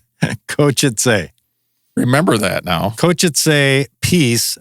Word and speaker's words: Košice: It's pronounced Košice. Košice. Košice.